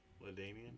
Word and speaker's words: LaDainian: LaDanian. Yeah. Is that how you pronounce it? Yep. LaDamian.